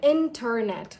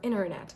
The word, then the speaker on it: internet: Whereas in American accent, you do not pronounce the T.